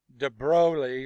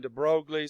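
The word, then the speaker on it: de Broglie: he's from like Belgium de broi or some people call him de brogly some people just call him de Bru you just don't even pronounce the last part of the name so de bro I like that battery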